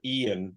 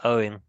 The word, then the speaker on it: Eoin: in the name so is it Owen or Ian what will you settle this question for me